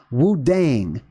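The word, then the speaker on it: Wudang: central area of China Wu dang which is another pronunciation right of Wu Tang same exact word now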